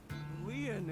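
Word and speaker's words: Lien: My name, Leon, is spelled L-I-E-N. In French, Leon means bond, just like Kizuna means bond in Japanese.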